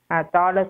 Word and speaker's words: Thales: இது வந்து Thales, name of the Greek mathematician, Thales அப்படின்னு சொல்லி pronounce பண்ணணும்.